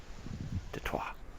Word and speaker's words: Detroit: Detroit. That's how it's pronounced. Yeah, precisely. It's a French term for a French fort that used to be French territory.